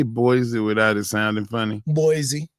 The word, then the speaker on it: Boise: Is it Boisey or Boise? It's Boise. I've heard it said Boisey.